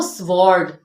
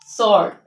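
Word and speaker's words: sword: silent सर्ड इ नो स्वर्ड इट इज सॉर्ट सॉर्ट टू टू इन सब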